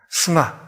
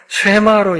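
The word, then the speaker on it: שמע: 스마 혹은 쉐마. 그러니까 모음을 어떻게 붙이냐에 따라서 쉐마로 읽을 수도 있고 스마로 읽을 수도 있어요. 스마라는 발음이 훨씬 더 언어에 가깝긴 합니다.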